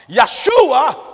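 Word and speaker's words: ישוע: with a J but there are no J's in the Hebrew alphabet so the name Joshua in Hebrew is correctly pronounced yua Yeshua in Hebrew or in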